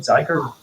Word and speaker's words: Zeiger: have with us zeiger is that how you say your last name zeiger rhymes with tiger rhymes with tigers tiger